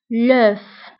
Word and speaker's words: l'œuf: فانتبهوا بالنسبة البيضة واحدة فهي l'œuf، فهنا كنتقول حرف الآخر في الكلمة اللي هو f فكنقوله l'œuf.